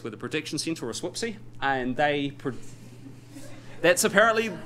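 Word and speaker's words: SWPC: called the space where the Prediction Center or whoopsy and they that's apparently how you pronounce it um anyway they do some modeling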